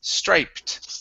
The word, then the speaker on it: striped: an ed ending okay the ed sounds like a t in this word because it ends with a p stripe rapid it's striped okay it hits a